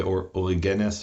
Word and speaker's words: Origen: And Origen is spelled O-R-I-G-E-N. Right? So, in Hebrew, we say Ori-ggeness or Ori-ggeness, which is the Greek form.